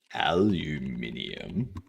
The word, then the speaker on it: aluminium: It's like aluminium. See? Aluminium. Whereas Americans pronounce it aluminum.